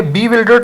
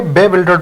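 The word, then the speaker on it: bewildered: बेबिल्डर्ड ये बी विल्डर्ड नहीं बल्कि बेबिल्डर्ड बोला जाता है।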